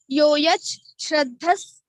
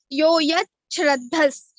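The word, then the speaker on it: यो यच्छ्रद्धः: Yo yat shrandas sa eva saha, and meaning of Yoyach, Shraddhas. So here it is Sandhi. After Sandhi, Sha becomes Cha. Yoyach Shraddhas.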